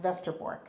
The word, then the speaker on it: Westerbork: northern town of Vestor which is with a W westerbork but it's pronounced Vester Borg in Holland now my family is